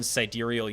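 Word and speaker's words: sidereal: 365.25 6 uh days also known as one siderial year that's how you pronounce that by the way uh so while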